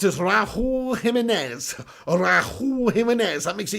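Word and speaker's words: Raúl Jiménez: Lynette Giggs says, pronounced as Raul Jimenez.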